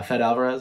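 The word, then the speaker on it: Fede Álvarez: CGI was fantastic uh fed Alvarez I think his name is the director that's how you pronounce it um I thought he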